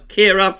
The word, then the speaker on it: Ciara: I pronounced this wrong in the 5-day forecast. I said Storm Caira. It's actually Storm Caira.